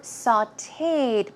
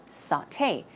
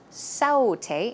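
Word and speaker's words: sauté: we have saute remember sauteed blah blah blah it's a way of or preparing food and it's pronounced saute saute it's not saute its saute and recipe you may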